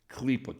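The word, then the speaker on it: Klipah: Klipa, K-L-I-P-A-H, klipa. Or you can spell it as K-L-E-E-P-A-H, klipa.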